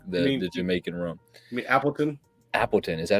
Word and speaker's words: Appleton: When I was there, you couldn't get that in the States now, but Appletini is like the Jamaican rum. You mean Appleton?